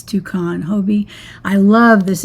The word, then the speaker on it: Hobbii: So if you like these, you can use the word Hobie, and you got to spell it right.